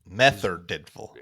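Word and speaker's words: Merthyr Tydfil: tiful uh meth tiful meth tiful so you don't pronounce the r that's what it sounds like yeah okay all right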